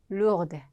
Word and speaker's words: lourde: 여기서 lourd 하면은 무거운, 헤비 같은 의미로, 여성형은 lourde, 끝에 대가 이제 발음이 되겠죠.